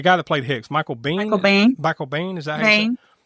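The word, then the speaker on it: Biehn: Michael Bane.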